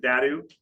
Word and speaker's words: DADU: So you have DADU, really most people pronounce it DADU and ADUs, and that's what I say all the time.